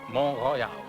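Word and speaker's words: Mont Royal: mountain a mountain named mon Royale by Jac Cartier Montreal is the English pronunciation of mon Royal it's the second largest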